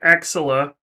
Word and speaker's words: Axilla: Axilla.